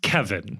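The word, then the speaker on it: Kévin: that Kevin is pronounced Kevin that was that was definitely something that they clarified it's written with an accent of course but it's pronounced Kevin there aren't a whole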